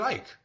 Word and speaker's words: Icke: David Icke, or Ike, depending on your pronunciation, showed up and spoke.